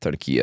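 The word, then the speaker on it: Türkiye: They recently wanted to be referred to by how they natively pronounce it, Turkey.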